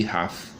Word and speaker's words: Haff: próximos a uma Laguna que quer dizer rar h a f f em alemão assim a mesma pois chamada de doença de rafe e se escreve com